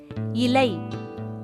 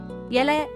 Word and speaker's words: இலை: அடுத்து இலை. இது சரியான உச்சரிப்பு. அதுவே இலை அப்படின்னா அது தவறான உச்சரிப்பு.